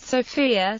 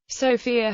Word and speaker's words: Sofia: abandoned through the years the city's name is pronounced by bulgarians with a stress on their o in contrast with the